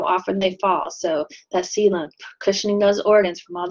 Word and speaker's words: coelom: That's how it's spelled, but say it like coelom.